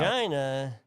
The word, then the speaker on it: Regina: Because Shout out, Regina rhymes with fun.